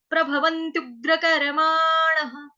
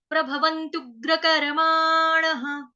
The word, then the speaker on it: प्रभवन्त्युग्रकर्माणः: ध पूरा, य पूरा, और विसर्ग, विसर्ग का उच्चारण ह। एतान दृष्टिम वष्टभ्य नष्टात्मानोऽल्पबुद्धयः। उसके बाद आ गया जी, प्रभवन्त्युग्रकर्माणः, प्रभवन्त्युग्रकर्माणः, प्रभवन्त्युग्रकर्माणः, प्रभवन्त्युग्रकर्माणः।